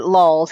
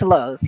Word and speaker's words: Lowe's: hungry it's yeah he's he pronounces it LS it's it's Low's yeah but I actually